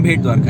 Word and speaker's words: भेंट द्वारका: ठीक है, गूगल के नाम पे मत जाना, this is the spelling over there is BEYT something like that, लेकिन ये इसका असली नाम भेंट द्वारका है।